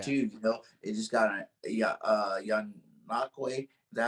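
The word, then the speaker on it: Ngakoue: They just got young Nakwe. Is that how you say his name is? Yeah, Yannick Ngakwe.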